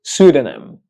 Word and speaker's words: pseudonym: have it's pronounced first of all the correct pronunciation of this word is pseudonym pseudonym pseudonym pseudonym pseudonym pseudonym but what does